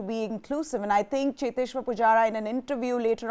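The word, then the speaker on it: Cheteshwar: inclusive and i think cheteshwa pujara in an interview later on and even said that i prefer to be called chitteshwar but it seems like they can't pronounce my name so it's okay whatever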